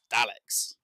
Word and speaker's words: Daleks: and it's like but the pronunciation is wrong it's Daleks there's no r in it and it's it's just